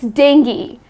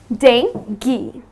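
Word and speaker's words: dengue: this manner but that is incorrect the correct pronunciation is dengi so it's dinky another one that I have for you is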